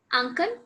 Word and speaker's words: Ankan: Yes, I believe your name is Ankan. Ankan? Yeah. यस Ankan, correct? मैंने सही pronounce किया? Yeah.